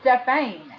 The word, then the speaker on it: Stephaine: You're Stephanie. My name is you're Stephanie. No, I'm Stephane. I think you're Stephanie. It's Stephane. It's Stephane. And it's A-I-N-E, Stephane.